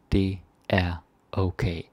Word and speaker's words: det er okay: Det er okay. And you probably noticed at first I said it like det er okay. Sort of like this middle word er isn't pronounced.